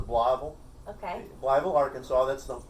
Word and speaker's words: Blytheville: like town was called blytheville okay oh they pronounced the bloble okay libel arkansas that's